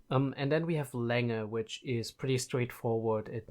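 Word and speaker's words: Länger: and then we have Langer which is pretty straightforward it means length but also here very important to note there is the modified a which is a and that is always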